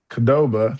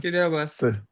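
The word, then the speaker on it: Qdoba: Chipotle and Kdoba. Kadoba.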